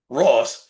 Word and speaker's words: Ross: But before that, let's dive into who Jonathan Roth is. Oh boy. It appears there's a misunderstanding regarding the person mentioned. The news reports detail an incident where a federal agent named Jonathan Ross, maybe I had his name wrong, was dragged